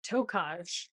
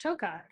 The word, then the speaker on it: Tokaj: I came in and I said something about Tokaj. Oh. And you said, oh, actually, it's pronounced Tokai.